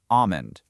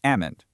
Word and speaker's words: almond: Standard American English completely drops the L in almond to make it almond or almond. There is absolutely no L required when you say, "I